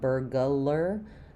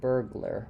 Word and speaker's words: burglar: It does have to go quickly between the G and the L. You don't want burglar, just burglar. Burglar. Um, yeah. Okay. So, yeah, definitely a difficult word. Similar to burger, but adding the L in there.